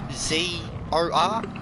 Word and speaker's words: Xizor: Prince Ior or Zizor, something like that. I could never say his name right. It was Xizor.